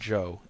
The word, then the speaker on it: Ciao: Joe is amazingly cooperative Joe spell it ciao if you want to be exotic it still pronounced Joe and that's his name